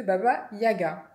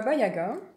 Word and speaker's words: Baba Yaga: à part qu'on propose on prononce comme ça l'objet magique de baba yaga alors qui est pas bayaga donc dans cette dans